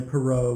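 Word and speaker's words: Perrot: But it's at near Perot, which is spelled P-E-R-R-O-T, in case you're keeping track.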